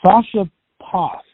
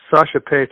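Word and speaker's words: Sascha Paeth: you once again work with uh is it sasha poss that incorrect but yeah well it's it's that's pretty close sasha pace is how you pronounce it but it's it's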